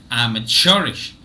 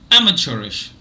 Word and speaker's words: amateurish: is stressed but m is also stressed so I'm a cherish I'm a cherish now look at the British pronunciation only I am stressed not cherish amateurish so syllables two three four are all weak